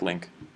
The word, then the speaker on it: LINQ: So link is spelled LINQ.